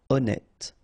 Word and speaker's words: honnête: So remember, H doesn't exist. Honnête.